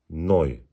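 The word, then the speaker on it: neu: oluyor Yani misalen ni e u harfleri yan yana geldiği zaman oy diye okunuyor misela noy c ve H harfleri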